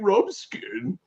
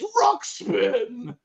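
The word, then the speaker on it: Ruxpin: just she's like what the Teddy rub skin and I'm like what the hell his real name and it's like it's Rox Spin and I'm like oh okay well I've been saying it wrong for 20 30 years sorry oh boy oh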